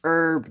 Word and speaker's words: Herb: He says, it's pronounced herb, the H is, silent.